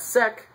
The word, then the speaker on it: sec: sex principle is that sec when you say it like sec sounds like the word sex especially when you start